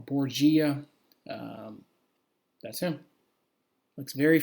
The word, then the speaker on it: Borgia: wikipedia a picture of cesar borger or borgaia and depending how you pronounce it um or borgia um that's him looks